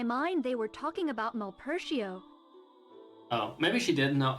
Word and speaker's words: Malpercio: At least she pronounces it in a proper way. Like, Malpertio, I don't know. It could be Malpercio. Malpercio. That sounds more Italian.